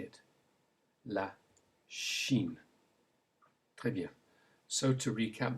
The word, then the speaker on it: Chine: And the sh sound in French is made with a CH in English, as in la Chine.